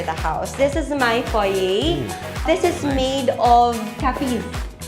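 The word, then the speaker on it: foyer: One is na-pronounce ng tama ni ma'am Beya ang foye foy.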